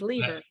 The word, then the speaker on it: Leever: I gotta tell you I saw the word lever l-e-v-e-r because my sister's married to a lever with one e and I'm like he's saying it wrong you're saying it right because it is leader so tell me this